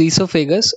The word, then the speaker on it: esophagus: Food pipe is also known as esophagus. O is silent here.